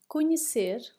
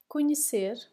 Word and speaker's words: conhecer: We have dar, dar, to give, saber, saber, to know, conhecer, conhecer. When we have N and H together, the sound becomes N. N.